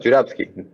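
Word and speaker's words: Журавский: Y se pronuncia más o menos Juravsky.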